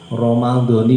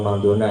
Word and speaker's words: Ramadhani: Ramadhani ya, jangan Ramadhana ya, Ramadhani. Ramadhana nanti disalahin ulama ahli nahwu, ahli sorok nahwu, disalahkan nanti. Karena yang betul itu dibacanya ni, bukan na.